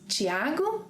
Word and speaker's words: Thiago: So see, it doesn't change a thing regarding pronunciation. It is Thiago, Thiago.